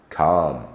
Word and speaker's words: calm: KN no knife not L is often silent when included within the word as in Armond calm chalk Palm salmon some words ending in